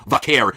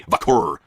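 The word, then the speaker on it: Vaquer: She's already spoken about how it's pronounced Vakair, but you're still on television. I hear people say Vakur.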